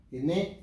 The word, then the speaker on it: Quesnay: política, nos referimos a el doctor Quesnay, Quesnay, si lo pronunciamos en francés, Montesquieu, Rousseau, que tienen un papel fundamental en la Revolución Francesa.